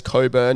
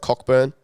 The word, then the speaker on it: Cockburn: So, they've got Coburn here, just, saying that it's Coburn, not Cockburn.